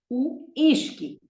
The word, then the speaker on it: uísque: It is just as you speak it. Whisky. Ishki.